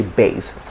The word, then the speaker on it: bass: part and it's not bad rather you say bass he's got a bass voice now there's another word there's another word